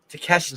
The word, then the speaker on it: Takeshita: Takeshita.